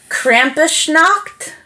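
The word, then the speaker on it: Krampusnacht: 5th which is called I listen to the pronunciation Krampus knocked which very poorly translates in my case to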